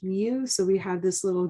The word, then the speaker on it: mu: in that data set the population arithmetic mean pronounced mu so we have this little greek letter mu